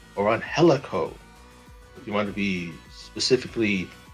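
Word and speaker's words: Angélico: know go for the championship now this one angelico or on helico you want to be specifically pronounced the mexican word of name right the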